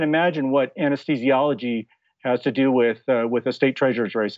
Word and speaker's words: Douthit: all the time um one quick way is just turn the U into a w or to to think